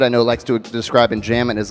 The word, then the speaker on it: enjambment: Enjambment, very good.